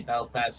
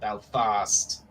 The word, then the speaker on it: Belfast: from some people say Belfast some people say belf fast oh fost well as